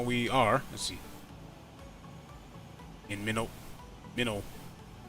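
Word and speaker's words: Minot: Still got a ways to go, but right now we are, let's see, in Minnow. Is it Minnow pronounced? Yeah, I'm in Minnow right now. M-I-N-O-T, that's how it's pronounced.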